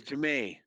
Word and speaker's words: Jamay: And my name's Jamay. Just wanted to clarify. Jamay. That's a great name, Jamay. How do you spell it? Kind of like Jimmy, but it's pronounced Jamay.